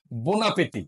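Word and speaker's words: bon appétit: বো আসলে বো কিন্তু আমি একসাথে বলছে ন উচ্চারণ করছে বোনা পেতি বোনা পেতে হ্যাঁ গুড পেতি পেতি পেতি বোনাতি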